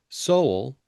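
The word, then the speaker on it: Soal: Soul, S O A L is how you uh pronounce or spell that person's last name, went through his results once again, and it was then that he noticed that Mr.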